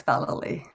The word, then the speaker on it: Vallely: name thank you sujata you've pronounced it perfectly it's vali that's right i get a lot